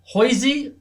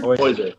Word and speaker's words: Hoiser: And London Hoisey, is that how you say it? Looks like Hoiser. Hoiser? Hoiser, yeah. Hoiser, beg your pardon.